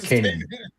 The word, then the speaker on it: Kanan: How do you Is it it's pronounce it's canon it? or is it Kanan? Kanan. No, it's Kanan.